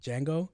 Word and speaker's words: Django: I was like, the D is silent.